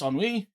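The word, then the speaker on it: ennui: Uh, enwi uh, pronounced enwi is a noun that means a feeling of listless boredom and lack of excitement or purpose.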